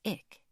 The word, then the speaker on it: IC: A corrections officer had looked everything over and fed copies into the great bureaucratic machine that was IC, pronounced Ick, to nearly everyone's annoyance.